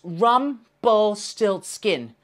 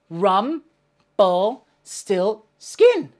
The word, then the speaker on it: Rumpelstiltskin: help me remember it it's Rumpelstiltskin four syllables okay let's try it together rum ball still skin let's say it together Rumpelstiltskin Rumpelstiltskin let's say three times really quickly Rumpelstiltskin Rumpelstiltskin Rumpelstiltskin well done